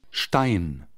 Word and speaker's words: Stein: Take the sh off German. Stein. And what you're left with sounds like Stein.